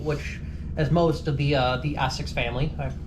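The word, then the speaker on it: Esox: Not only are they're now got a broadside bait, which, as most of the Essex family, I pronounced that right?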